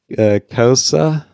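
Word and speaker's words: Xhosa: The answer is sci-fi pronounces wrong, but it's Kosa.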